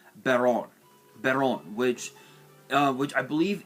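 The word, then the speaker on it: Baronne: baron de floor i don't know why people pronounce this baronet but it's literally pronounced baron berron which which i believe is french for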